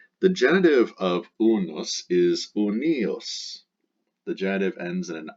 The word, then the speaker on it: uni: an ius, ius, and its dative singular ends in the letter I, pronounced e. So the genitive singular of unus is unius, and that's the genitive for the masculine, the feminine, and the neuter.